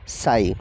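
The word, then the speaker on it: Ψ: DHU के just opposite पाया जाता है स्यूडोयूरिडीनेज आर्म, यानी कि PSU, जिसे शॉर्ट में हम प्रोनाउंस करते हैं साई।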